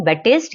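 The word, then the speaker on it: Baptiste: बैटिस डीलमार्क ठीक है जीन बैटिस य पी साइलेंट होता है बैटिस लमार्क नेक्स्ट है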